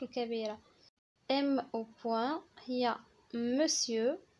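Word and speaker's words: monsieur: ام او بوان هي مسيو، مسيو كتكتب مونسيور ولكن كتنطق مسيو، مسيو كيقولوا مسيو فلان مسيو فلان مسيو فلان يعني سيدي.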